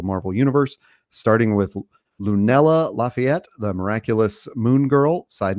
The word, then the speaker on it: Lafayette: Universe starting with lunella Lafayette the miraculous Moon girl side note if you're in Nashville that is pronounced lefet uh but Nadia didn't